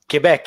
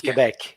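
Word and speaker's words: Québec: Is that the proper way to pronounce it? Quebec? Quebec, yeah, exactly. In French, it's Quebec.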